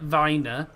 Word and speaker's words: Wien: So it's esca rapid vine w i n which is pronounced vin because um in Vienna if you're